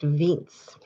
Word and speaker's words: Wiens: not an Australian name it's German it's actually pronounced Vince yeah I don't know